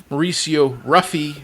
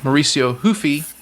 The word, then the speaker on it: Mauricio Ruffy: Dennis as people that don't know how to pronounce French names would say, going against Mauricio Ruffy as us Americans would say, Mauricio Hufi, right?